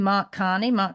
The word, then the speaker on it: Mark Carney: But this other guy coming in, how do I pronounce his name? Mark Carney.